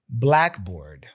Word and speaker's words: blackboard: The first part of the compound word carries the stress.